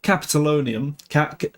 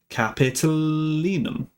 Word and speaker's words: Capitolinum: Infra Capitolonium, let's pronounce this right. Capitolinum.